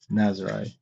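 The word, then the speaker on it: Nazaré: As George said, it's Nazare. As George. Nazare. Is that right? Nazare? Even if they spell it Nazare.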